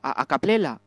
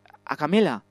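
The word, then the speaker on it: a cappella: Bueno, que canté un poquito a capela, ¿eh? A camela.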